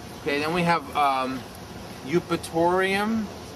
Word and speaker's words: Eupatorium: Eupatorium. Spell it.